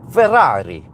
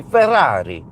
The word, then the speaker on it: Ferrari: they they pronounce it Ferrari. Ferrari. You have to put because it's double Rs. You have to emphasize the double Rs. Do we have any Italians here? It's supposed to be Ferrari.